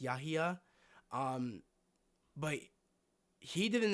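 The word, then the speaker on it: Yahya: Um, or Yaha, I think that's how you pronounce his name. Me and my sister were looking that up earlier. Uh, how to pronounce his name. Um, I think it's pronounced Yaha.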